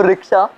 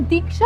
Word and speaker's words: दीक्षा: तो रिक्शा, तुम यहाँ आई क्यों? एक मिनट, तुम मुझे रिक्शा क्यों बुलाते हो? मेरा नाम दीक्षा है।